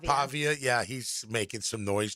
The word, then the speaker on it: Pavia: You know, be interesting that I see where uh uh is it Pavilla? Is that how you pronounce his name? Pavia.